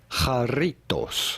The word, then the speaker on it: Jarritos: are looking at how to pronounce with the typical Mexican pronunciation, jarritos.